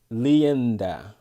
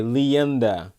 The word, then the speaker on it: Lianda: right all right uh to help you pronounce my name is okay and lianda okay leanda all right sorry i i